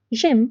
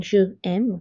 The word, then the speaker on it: j'aime: J'aime means I like. Instead of saying je aime, we say j'aime.